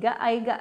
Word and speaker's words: Aegea: Nah itu kirain aku tuh bukan singkatan ternyata Simply of Ega ya. Aiga dibacanya.